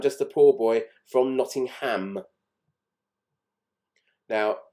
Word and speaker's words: Nottingham: He sings, I'm just a poor boy from Nottingham. Now, in England, with towns that end in ham, we tend not to pronounce the H.